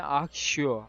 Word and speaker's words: Accio: Ne akşıyor? Bu nasıl okunuyor? Akşıyor diye okunuyor. Öğrenelim. Başlattık. Hop. Hop. Hop. Bu nasıl? Bu ne skilliymiş? Accio.